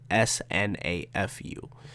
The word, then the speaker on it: SNAFU: team romantic comedy s SNA fu that's food snafu that's how you say that that's how you pronounce now for why don't